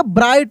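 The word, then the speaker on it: bright: एस ए डब्ल्यू स अ ब्राइट क्या पढ़ेंगे ब्राइट यानी यानी इसमें भी जी एच साइलेंट है।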